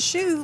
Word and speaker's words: Hsu: The middle East is pronounced East, but it's spelled I-E-S-T, and then my last name is pronounced Hsu, like the shoe you wear, but it's spelled H-S-U.